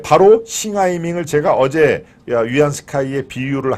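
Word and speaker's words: 袁世凱: 제가 어제는 청나라 말기의 원세계 중국 발음으로 하면 위안 스카이라는 얘기죠 원색의 중국 청나라의 말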